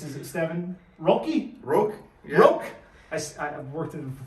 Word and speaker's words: Roque: Roque.